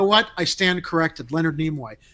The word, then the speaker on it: Nimoy: call him namoy leonard is that how he pronounces his name leonard nimoy nemoy nimoy nimoy okay so leonard nimoy i'm sorry i've just never heard him called nemoy that that sounded like a